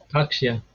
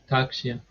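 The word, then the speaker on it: Tārkṣya: How I pronounce it is Takshya. Yeah. I don't know if that's correct. Takshya. See, where there's a line above the A, it makes it a long A.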